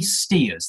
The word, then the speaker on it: Stears: go oh yes sorry it's steers that's st EA RS thank you okay I'm